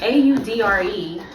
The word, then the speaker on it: Audre: It's Audre. I don't know how Audrey pronounce it. Audrey, it's 3 against 1. Sure, let it go. It sound like Audrey to me. It's Audrey. Where the A at the end? Dre. Audre. Audrey.